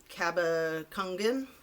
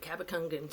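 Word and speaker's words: Cabacungan: with the last name how do you say it I totally hacked it yesterday it's like c a b a c u n g a n so Kaba Kangen Nate cabacangan so he's in jail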